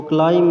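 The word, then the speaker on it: climb: ल आई एम बी तो क्लाइंब में जो लास्ट बी आता है वह साइलेंट है और फिफ्थ वर्ल्ड जो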